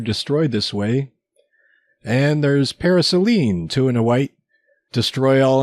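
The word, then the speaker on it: Paraselene: those are pretty neat so that's how you pronounce that I've always called it para lessons but that's what I call it okay some other options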